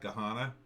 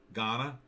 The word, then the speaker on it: Ghana: they got gahanna empire is that how you pronounce that gahanna ghana you got mogadishu down here i mean all